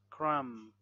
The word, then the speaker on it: crumb: logically so a silent silent B when there is M before the B so we don't say p climb crumb lamb thumb Dum Plum